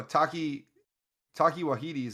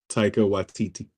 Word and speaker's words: Taika Waititi: Oh, Taki Waititi's in it as well. Taika Waititi.